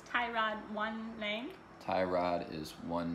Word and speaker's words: Tyrod: Taylor Tyrod Taylor its tie rod one thing tie rod is one name now it's been now apparently it's pronounced tie rod his real name is Tirat but so many